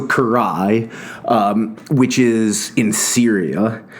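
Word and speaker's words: Carrhae: the first is Kanai the second rhymes with Kanai that's my best attempt so Karai um which is in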